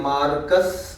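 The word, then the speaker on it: Marx: लिखा हुआ है बट जर्मन एक्सेंट में अगर बात करेंगे तो जर्मनी में सुना है आर रीड नहीं करते साइलेंट होता है वो तो उसको रीड करते हैं मार्क्स मार्क्स नहीं बोलते हैं यहां पे हम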